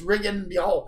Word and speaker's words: Rigondeaux: is that Rigondeaux, because nobody can pronounce his name. It's like Rigondeaux, Rigondeaux, but I don't like to say it that way. It's Rigondeaux. Rigondeaux.